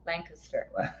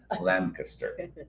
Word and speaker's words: Lancaster: Oh, Lancaster. I was like, how do you say it again? Lancaster, not Lancaster like I said it.